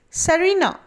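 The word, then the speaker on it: tsarina: used as a museum note sar is a title used for russian kings in earlier times a female ruler was called serena t being silent in the pronunciation of both words number three is the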